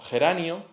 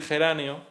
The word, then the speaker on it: geranio: Entonces, eh cuando tú escuchas espurio o geranio, geranio como si lo estuviese como si la si la palabra real fuera geráneo y lo pronunciase con mucha relajación articulatoria. El iato lo tenderías a hacer como un distongo en vez de decir geráneo.